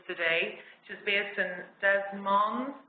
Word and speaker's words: Des Moines: which is based in des moines des moines it's hard to pronounce it it's the french name in iowa and which